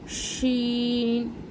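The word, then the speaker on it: شين: Scene যা scene শিন এই দুটো একই। কিন্তু উচ্চারণ একটু আলাদা এটা সিটির মত আওয়াজ হবে আর এটা হবেশিন মানে গলার মানে ভিতর থেকে গালের ভিতর থেকে আওয়াজ হবে আর একটু চেপে বের করতে হবেশিন সদ এটা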